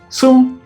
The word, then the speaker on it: 寸: Ele é pronunciado tsuan no mandarim ou sun no japonês.